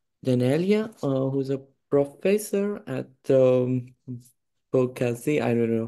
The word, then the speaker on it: Boğaziçi: who's a professor at Boğaziçi. I don't know how to say this name. University. Boğaziçi, soft G.